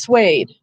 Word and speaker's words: suede: The word is suede.